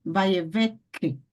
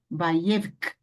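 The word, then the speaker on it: וַיֵּבְךְּ: Então, eu não posso pronunciar vaiever, não. E nem vaievek, não. É o quê? Vaievk, com som de k, que, no caso, k, né?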